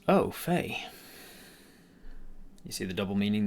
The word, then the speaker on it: au fait: nine of season four oh Faye pronounced oh Faye you see the double